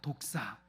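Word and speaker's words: δόξα: 영광이 헬라어로 독사입니다. 독사. 쉽죠? 독을 가진 뱀이라는 뜻이 아니라 그 발음이 독사입니다. 독사.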